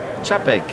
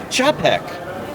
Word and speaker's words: Czapek: This is called pronounce that name. Czapek. Czapek.